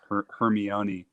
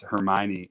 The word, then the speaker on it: Hermione: the Harry Potter books I always thought it was her Kermie on e and then those movies came out and his Hermione and it blew my mind